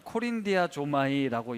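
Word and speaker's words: κορινθιάζομαι: 이 헬라어는 코린디아 조마이라고 읽습니다.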